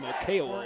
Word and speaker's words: Okeowo: Tim Okeowo, I beg your pardon, is the pronunciation there.